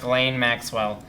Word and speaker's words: Ghislaine Maxwell: it's very good name interesting spelling but it's pronounced claim Maxwell it's very and they used to be lovers